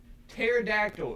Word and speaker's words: pterodactyl: that what you're saying it's spelled horribly pterodactyl it starts with a p yeah it's it's called pterodactyl it's spelled with a p and it ends in a yl i think jessie could